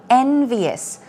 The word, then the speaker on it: envious: that is bad okay envyus let's take a look at the pronunciation stress goes on the first syllable envious people can be envious